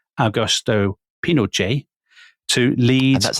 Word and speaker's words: Pinochet: saying his own name, Chileans often swallow the T at the end of the word. So actually, what he actually says is Pinochet. Pinochet. Yeah. Okay, that's what we'll call him then. But when we slip into, because we're British, so we'll obviously slip into calling him General Pinochet, as people always do. So listeners will just... Pinochet, as in Che Guevara.